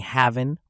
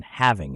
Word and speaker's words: having: Are you saying havin' or having? Guess which one is correct. Only the second one, having, is correct. This is because in English, the letter pairs or pairs of letters NG and NK are pronounced as Ing.